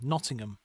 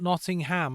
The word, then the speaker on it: Nottingham: Nottingham. Uh, not Nottingham. I know it's it's uh tricky because you see the word ham at the end and you think, "Oh, okay.